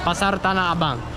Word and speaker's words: Pasar Tanah Abang: Pasar Tanah Abang.